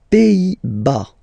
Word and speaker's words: Pays-Bas: Les Pays-Bas. Final S here, not pronounced. Same thing here. Pays, and then bas. Les Pays-Bas. Okay?